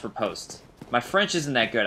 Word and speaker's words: riposte: 664 on the riposte. I was corrected by one of you guys, very angrily, well, not very angrily, I've been calling it riposte, probably due to liking Ian B's videos, and